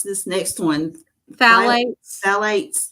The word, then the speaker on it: phthalates: Phthalates. Phthalates. The P is silent, so I guess it's phthalates.